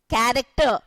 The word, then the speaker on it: character: Character, though it is ch, it is going to be pronouncing as k, character.